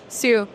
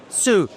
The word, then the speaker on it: Siu: Siu. Siu. Simple. I always butcher the last name, so I was like, Okay, I please appreciate you asking.